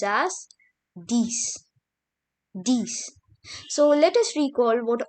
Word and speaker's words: dix: And at last comes 10, which is pronounced as dix.